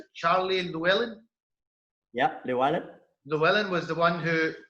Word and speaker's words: Llewellyn: if I please it, correct me if I'm pronouncing it, Charlie Llewellyn. Yeah, Llewellyn.